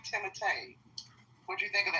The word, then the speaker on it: Timothée: I think that's how you say his name, Timothée.